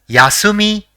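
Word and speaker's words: 休み: say the next word the first character in the word is yeah the second is Su and the third is me so it will be pronounced as yasumi which means rest or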